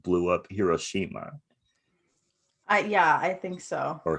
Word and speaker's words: Hiroshima: Like, I think plutonium is what they used in like the bomb that like blew up Hiroshima. I think so. Or Hiroshima. Is that how you pronounce it Hiroshima.